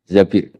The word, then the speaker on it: Zabir: Bin Zabir di di hadis ini bukan bacanya bukan Zubair tapi Zabir Abdurrahman Bin Zabir tapi